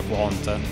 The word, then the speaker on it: Qwant: pronunciato nel modo corretto si pronuncia quota in molti purtroppo sbagliano